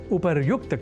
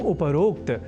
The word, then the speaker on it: उपर्युक्त: जाना चाहिए अर्थात उपरोक्त के स्थान पर उपर्युक्त कहा और लिखा जाना शुद्ध है यह हमें अवश्य स्मरण रखना चाहिए तो उपर्युक्त इस शब्द से बने वाक्यों के अभ्यास से हम उपरोक्त इस अशुद्ध उच्चारण और लेखन से स्वयं को दूर रख सकेंगे इस उद्देश्य के साथ